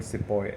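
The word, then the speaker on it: sepoy: as we spell it we pronounce it as sipahi in general in normal Hindi but in English if they are called sipoi s-e-p-o-y they are spelled as this and then they got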